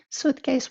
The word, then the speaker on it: SUITCEYES: We actually call it Suitcase, even though we spell it slightly differently because Suitcase was already taken and we didn't have time to explore our options.